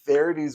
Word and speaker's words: Verity: book, and that is Verity's. Or or sorry, Verity. My wife gets really mad that I keep saying Verity's. Like, yes, whatever. I don't say his name exactly correct.